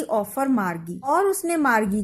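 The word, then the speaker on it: Margie: अब बच्चों एक चीज और बताएं, ये जो शब्द है मार्गी, कुछ किताबों में इसके बारे में मार्जी प्रोनाउंसिएशन लिखा है। मार्जी मुझे सही नहीं लगता क्योंकि ये जो जी है ये जी मोस्टली ग की साउंड देता है, जबकि जे जो है वो ज की साउंड में आता है। तो आई थिंक मार्गी इज अप्रोप्रिएट प्रोनाउंसिएशन।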